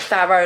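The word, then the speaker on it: Farrow: I just pronounced it pharaoh like it's th h pharaoh and ball see it here as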